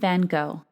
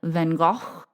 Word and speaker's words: van Gogh: I understand that in Dutch, his name is pronounced more like, “vun Ghogch,” but I know I am not saying that correctly.